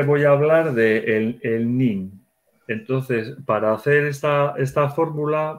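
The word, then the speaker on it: neem: Pero para reforzar eso, entonces utilizamos, se escribe N, dos Es y una M. N-E-E-M. NIM.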